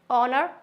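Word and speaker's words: honour: times H is silent किसी किसी में एच होता है silent for example some times we pronounce the word as if they R एच एट ऑल एच को हम silent रखते हैं जैसे कि ऑनर ऑनेस्टी आर क्या हम इसको हॉनर पढ़ते हैं नेस्टी पढ़ते हैं नो it's totally wrong is it clear ऑनर honesty are हमारा एच साइलेंट होता है ओके एक बार फिर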